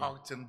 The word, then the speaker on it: Gauteng: Gauteng province. Hey, so please pronounce it again. Gauteng province.